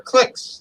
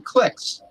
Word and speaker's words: cliques: And I think in England they pronounce them cliques. Cliques. Cliques. The clique. It almost sounds like the French are saying clique.